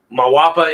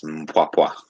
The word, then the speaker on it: Mpwapwa: The Mawapa in Africa is occupied by British.